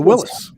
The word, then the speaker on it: Willys: Yeah, the Willis. Yeah. Yeah. No. I have been assured by some old people that it was called Willys, no matter how it's spelled.